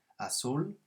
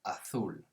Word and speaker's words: azul: come from for example asul in most of spain it would be pronounced atul so with a sort of th sound for the zed but in south america